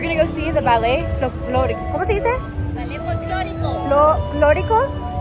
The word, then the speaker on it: folclórico: We're gonna go see the ballet folclórico.